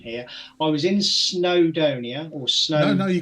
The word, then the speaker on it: Snowdonia: Dave he's gonna have a go at my pronunciation here I was in snowdonia or snow I know you got that right